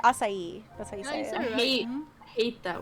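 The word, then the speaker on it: açaí: strawberry acai lemonade yeah you said it right acai I hate I hate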